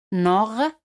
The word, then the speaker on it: normalement: La palabra normalmente en francés se dice normalement. T al final no se pronuncia.